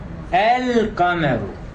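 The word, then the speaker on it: القمر: The lam in the Arabic word, the moon, al-qamar, does not assimilate and it is pronounced clearly. So we pronounce as we write. Okay, it has written as al-qamaru and we pronounce as al-qamaru as well. There is no assimilation there.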